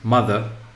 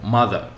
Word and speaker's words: mother: Nouns, for example, if we say mother, so mother, mother, mother. So in this case, as you hear, we focus on the first syllable. So we say mother, mother. Okay. Why? Because it is a noun. As it is a noun, so the first syllable is the place of the stress.